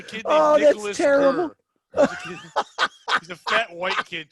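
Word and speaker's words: Gerr: Gurr. He's a fat white kid too, named Nicholas Gurr. Oh, that's terrible. Oh. It's G-E-R-R. There's no like hiding how you pronounce his last name either.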